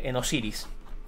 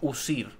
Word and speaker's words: Osiris: El dios este helenístico, que está inspirado en Osiris. Bien, dicho sea de paso, Osiris es el nombre griego que le dieron al dios egipcio que originalmente se pronunciaba Usir.